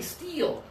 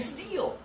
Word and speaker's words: steal: go steal steal yeah think about your tongue I think it's high in your mouth okay this is an easy sound because it already exists in Italian and already exists in Portuguese and already exists interstitial the EEE sound don't steal my candy